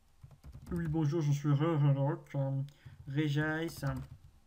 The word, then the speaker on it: Regice: Regice. On ne prononce pas Régis, ça c'est le méchant.